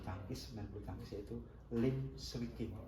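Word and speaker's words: Liem Swie King: main bulu tangkis, yaitu Lim Swee King. Tulisannya L-I-E-N, Lien, terus S-W-I-E, Swee, terus King, K-I-N-G, Lien Swee King. Membacanya Lim Swee King.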